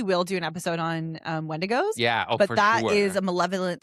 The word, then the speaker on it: Wendigo: It's Wendigo. Wendigo is the proper pronunciation.